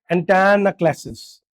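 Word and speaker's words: antanaclasis: ये ये प्रोनाउंस करने में थोड़ा टफ है। एंटायन क्लासेस। बोलो। एंटाना क्लासेस बोल के दिखाओ।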